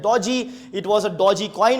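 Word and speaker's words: DOGE: You can pronounce it at dodgy.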